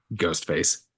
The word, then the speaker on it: ghost face: Three, two, one, ghost face. Hey, everybody. Welcome to 3, 2, 1 Ghost. As always, I'm your host face with a silent G, Kyle, and we're talking about a solo ghost face situation here today.